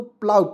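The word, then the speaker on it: plough: यू जी एच तो इसे क्या पढ़ेंगे दोस्तों प्लाऊ पढ़ते हैं क्या पढ़ते हैं प्लाऊ ठीक है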